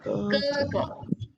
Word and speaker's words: 哥哥: It's a pronunciation. So 哥哥.